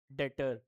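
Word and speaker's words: debtor: डेटर। क्या कहलाता है हमारा? डेटर। इसको डेटर बोलते हैं। क्या बोलते हैं? डेटर। ठीक है ना? बी साइलेंट है।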